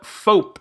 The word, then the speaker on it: FOAP: So there's a new mobile app called FOAP, F-O-A-P, which I'm going to pronounce like soap until I hear differently.